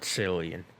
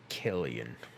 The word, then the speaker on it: Cillian: Alright, it's Cillian Murphy, not Cillian. Killian.